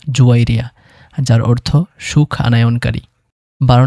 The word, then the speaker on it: জুয়াইরিয়া: 11 number রয়েছে জাওয়াবিয়া এবং এর শুদ্ধ সঠিক আরবি উচ্চারণ হলো জুয়াইরিয়া যার অর্থ সুখ আনায়নকারী।